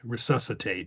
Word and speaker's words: resuscitate: I mean do very kind of casually because some people do the the u they they think it's like an E or an I. Resuscitate.